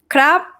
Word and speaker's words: ครับ: Okay, and yeah, the last syllable for male speakers, right? ครับ high tone.